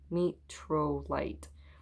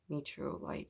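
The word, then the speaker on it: Mtorolite: metrolite met met metro meetro light you want to put an e in there at the beginning but there's no e um it's spelled m-t-r-o-l-i-t-e metro light m-t-r-o yeah so anyways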